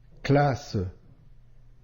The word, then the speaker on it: classe: le son ze maison classe ici on a de s entre A et E ici le double S se prononce bien comme le son ce souviens toi entre